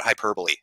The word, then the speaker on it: hyperbole: People have gotten on my case about hyperbole.